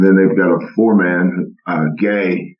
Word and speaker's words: Gueye: And then they've got a 4-man, Gay. It's spelled Gueye, but it's pronounced Gay.